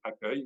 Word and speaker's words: accueil: I want to be accueil, which is it may not sound like the way it's spelled, but I promise you that's the way it sounds.